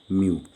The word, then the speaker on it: mu: called refractive index denoted by this later called mu okay this is how we'll draw here and a u here so this is what we call mu m e w mu this is the pronunciation and here this is now called as